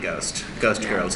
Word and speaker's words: Ghost Ghirls: But it's important to know that it's a silent H, just like in Ghost Girls.